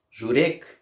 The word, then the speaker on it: Żurek: Ударение на «у», потому что журек, тут уже все граждане Казахстана напряглись, это сердце.